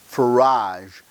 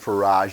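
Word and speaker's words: Farage: I had heard the term before but Nigel Faraj in Britain he is the head of the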